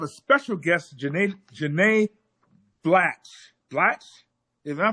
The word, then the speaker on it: Blatch: Blatch? Am I pronouncing that right?